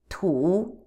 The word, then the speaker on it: 土: Third, tu, tu, tu.